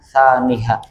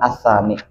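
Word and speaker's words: ثانيها: Dan caranya sama yang pertama ahaduha lalu berikutnya asani nang aulanya kata Imam Bajuri itu bacanya tsaniha bukan anani itu rancaklah dijuri jadi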